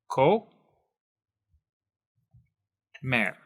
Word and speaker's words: comer: is it okay now the rule for spanish is if it ends in a consonant that is not n or s okay anything that is not those two constants the stress is going to be on the last syllable okay so for example if we had the word comer we're going to take this and break it apart into the different syllables so we have ko mer and since it is